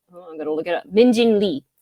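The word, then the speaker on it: Min Jin Lee: Minjin Lee, or Minjin Yi, as how you would properly pronounce it.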